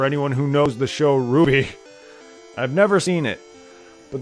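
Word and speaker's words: RWBY: never seen it myself yeah I know it's pronounced Ruby it's pronounced Ruby I know I just like to say root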